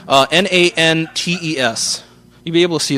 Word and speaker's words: Nantes: It's Quebec. It's French. They don't pronounce every letter. Nantes.